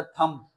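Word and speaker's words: thumb: ये एक आपके पास एमसीक्यू आएगा, सेकंड ईयर को भी दोनों टाइम आया था, एक टाइम आया था थंब, थंब अंगूठा, इसमें साइलेंट लेटर बी साइलेंट है।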